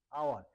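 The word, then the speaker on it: hour: আবার এখানে লেখা আছে হাওয়ার, কিন্তু আমরা উচ্চারণ করছি আওয়ার। তাই এইচটা আমাদের silent letter, H silent letter, এসিএলএনটি silent letter হিসাবে কাজ করছে, যার থাকা সত্ত্বেও কোনো উচ্চারণ আসছে না।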